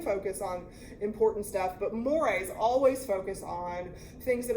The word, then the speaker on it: mores: Mores. You pronounced it correctly?